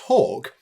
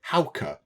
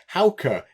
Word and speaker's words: Hauke: Apparently, it's not pronounced Hawk. I think they're saying to pronounce it Hauke, which I can sort of see that. So, Hauke? I think that looks right to me anyway. So yes, Hauke is how that's pronounced.